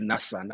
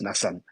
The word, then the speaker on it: Nassan: The others include Ndahura Gafayo William, there's Kiza Nassan, it's spelled Nassan, I thought it was Nathan, but then I asked and they said it's Nassan.